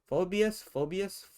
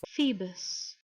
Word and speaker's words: Phoebus: Phobius? Phoebus. Ah, thank you. And Apollo is pronounced Ape-al-O.